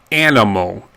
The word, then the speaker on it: animal: The A is generally pronounced A. Animal.